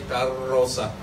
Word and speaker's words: carroza: It has a double R. So you dribble the R in your mouth, say carroza.